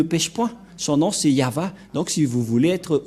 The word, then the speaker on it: Yahvah: de de yava et la prononciation de y h vav he selon les ébreeues c'est yava et personne ne peut